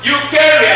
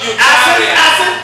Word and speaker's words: Eucharia: E-U-C-H-A-R-I-A. Pronounced Eukarya, not Eukarya.